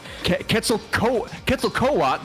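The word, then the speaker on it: Quetzalcoatl: I need the pronunciation. Kettzel co kettle coat.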